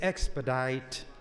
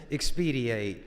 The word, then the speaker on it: expedite: humor out of it the word was expedite in an immense and an amendment and my good friend the chairperson of the Education Committee pronounced it expedia I listen and you